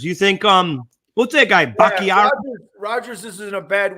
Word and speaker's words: Bakhtiari: Bakhtiari. Sometimes I want to say Bacharach. Yeah, listen, you're going to get the name wrong anyway.